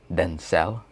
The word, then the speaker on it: Denzel: used to call me denzel right my actual name is denzel that's how it's pronounced in spanish it's pronounced densel right so you have